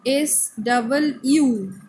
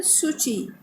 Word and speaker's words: Suu Kyi: Okay, spelling AUNG, Aung San, SAN, then SUUKYI. So KYI means pronunciation like this key dot, but no. So pronunciation Suu Kyi.